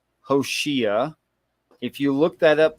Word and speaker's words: Hoshea: 6 letters, 3 syllables, pronounced Hoshea.